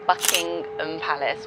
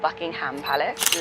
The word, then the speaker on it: Buckingham Palace: So you've got Buckingham Palace, that's said Buckingham Palace. We don't say the H, it's not Buckingham Palace.